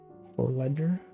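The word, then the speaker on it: Vorleger: Vor is pronounced like four. Forledger.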